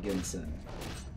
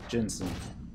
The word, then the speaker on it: ginseng: I like Ginsen. Ginseng. Ginseng. People are gonna be like, dude, you're pronouncing it wrong.